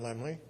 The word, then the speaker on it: Laemmle: i'll see what i can find out about Lemley well lemley pronounced laemmle is a group of a family-run